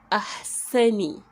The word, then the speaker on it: أَحْسَنِ: So if we are joining it with the alif hamza fatha, it will be ah. Then sa, sa'un fatha, which is pronounced as sa, so it will be ahsa, ahsa, ahsa. Then we have nunun kisra, which is pronounced as ni, so it will be ahsani, ahsani.